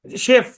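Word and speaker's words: chef: শেফ, আপনি মিলাইলে চেফ পড়া লাগবে, কিন্তু ওটা রাইট। উচ্চারণ তো শেফ।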